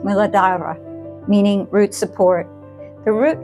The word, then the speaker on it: Muladhara: Today we're beginning our reparenting journey through the chakras, and we'll start at the very foundation, the root chakra, pronounced Muladhara, meaning root support.